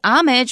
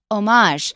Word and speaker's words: homage: we think it well since it's from French we shouldn't say amage we should say omage yeah so you're going